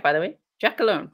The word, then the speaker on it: Giacalone: Giacalone, right?